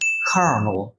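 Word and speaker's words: colonel: আর আছে নো বাট দেখুন আমরা যখন এটা উচ্চারণটা করছি তখন কিন্তু বলছি কার্নল কার্ন কার্নল রাইট তার মানে প্রোনাউন্সিয়েশনের সাথে স্পেলিং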